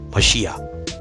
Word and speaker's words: Mashiach: or the name Yah, would be the correct pronunciation, Mashiach.